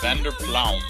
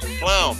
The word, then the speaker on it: van der Pluijm: Yesin vanderpluijm. Pluijm, okay, so we've been saying it wrong.